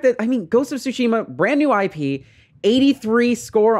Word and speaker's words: Tsushima: and please stop pronouncing it so incorrectly it's pronounced tsushima um all right now moving on uh the